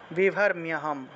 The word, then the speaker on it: विभर्म्यहम्: অনেকে বিভর, এই যে রয়ের নিচে হসন্ত দিলাম, অনেকে বি ভর উচ্চারণ করে ফেলেন, বি ভর হবে না তো, রয়ের নিচে হসন্ত থাকলে ভি ভর উচ্চারণ করবেন, ঠিক আছে।